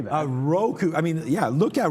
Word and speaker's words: Roku: Roku.